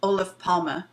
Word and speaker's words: Olof Palme: Olof Palme, and Yeah.